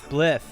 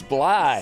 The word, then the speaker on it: Blythe: No, you mispronounced my last name. Oh, did I? Yeah, but nobody. It's Blythe. No, it's Blythe. The Sorry. THE is silent like the P in swimming. It's Blythe. Yeah, it's Blythe.